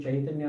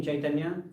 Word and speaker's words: Chaitanya: And that CA it's a particular type of way of reading Sanskrit, is pronounced Ch. Right? So if you read a CA in Sanskrit written inside some of the books in English transliteration, the pronunciation is Ch.